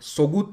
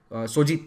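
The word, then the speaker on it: Söğüt: और सोगुत नाम का एक बहुत इंपॉर्टेंट शहर है, सोजित, सॉरी इसे सोजित प्रोनाउंस किया जाता है, तो सोजित शहर को जीत कर इसे अपना कैपिटल बनाया।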